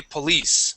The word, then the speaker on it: police: Okay, so first off, um remember police has the accent at the end. Okay, police.